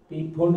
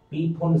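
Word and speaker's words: Pfund: जाता है पीफुंड श्रेणी, इंग्लिश में पीफुंड या फुंड बोलिए, जो भी है, फुंड श्रेणी। लेकिन इंग्लिश में इस तरीके से लिखा जाता है पीफुंड श्रेणी, पीफुंड सीरीज, या पी साइलेंट है, फुंड सीरीज बोलिए, ये हो गया।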